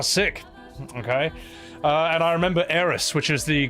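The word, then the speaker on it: Aeris: And I remember Eris, which is the correct pronunciation of her name because it sounds better.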